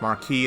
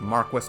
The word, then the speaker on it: Marquis: It is not pronounced marquee. It is pronounced Marquis to me forever and ever.